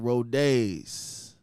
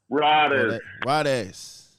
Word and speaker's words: Rodes: Y'all already know I got my man Rodays. That's how you say it, right? Riders. It's Riders. What's happening, I've been going through this since first grade, but it's Riders.